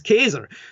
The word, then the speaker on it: Caesar: direction was Julius Caesar, and the correct Latin pronunciation for Caesar, as it's Anglo-bastardized, is Kaiser.